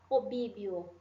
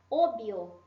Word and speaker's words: obvio: Então, eu não preciso falar obíbio. Não, até fica esquisito falar isso, né? Obvio, sim? Obvio.